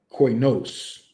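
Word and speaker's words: κοινός: So this word for unclean is koinos, right?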